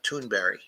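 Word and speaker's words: Thunberg: some years ago now the swedes pronounce that as toonberry okay which is quite interesting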